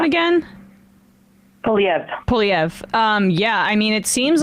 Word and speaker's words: Poilievre: Poilievre.